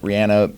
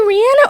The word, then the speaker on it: Rihanna: Rihanna performed pregnant. Is it Rihanna or Rihanna? It's Rihanna. No, We say she Rihanna.